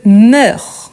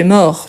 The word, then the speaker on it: meurs: Donc, tout d'abord, on dit je meurs. Je meurs et pas je mors.